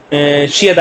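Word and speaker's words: 시: यहाँ पे ई एक वावल है, तो जब भी ई के साथ शियत आएगा तो वो शीन की साउंड देगा। आप देख रहे होंगे शी, तो ये इसको प्रोनाउंस करते हैं शी।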